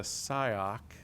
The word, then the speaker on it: SIOC: stakeholders to engage with the SIOC is how that's pronounced, in coordination with states, EOCs, and other key infrastructure.